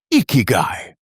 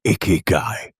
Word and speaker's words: ikigai: It was almost always the same 3 syllables, ikigai. So what is ikigai? Well, let us break it down. It is a compound of 2 Japanese roots. Iki, meaning life. Gai, meaning worth or reason.